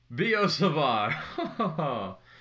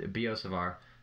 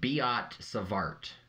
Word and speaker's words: Biot-Savart: talking about here is b.o savart um commonly if you're like can't do this french name in your head of b.o savar if you keep pronouncing it savart it's savar think of it as